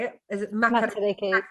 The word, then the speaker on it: Matariki: Is it Matariki? Matariki.